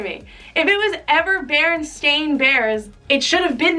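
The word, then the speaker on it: Berenstain: Like, no, mommy, A-I-N is pronounced ain, stain, not een, like E-I-N. Like, it's just crazy to me. It's crazy to me. If it was ever Berenstein Bears, it should have been that the whole time.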